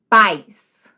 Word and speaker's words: paz: Paz. Segunda, país. Vejam, paz. Uma sílaba.